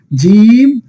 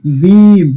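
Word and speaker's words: جيم: জিম। কি হবে? জিম। একটু শক্ত করে বলতে হবে প্রিয় শিক্ষার্থীগণ, জিহ্বার মধ্যখান থেকে একটু শক্ত করে উচ্চারণ করতে হবে কি?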